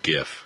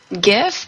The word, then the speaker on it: GIF: GIF? Yeah. Okay. You mean GIF? No. All right. Dude, it stands for Graphic Interchange Format. I know. I know. I'm using GIF. It's a hard G.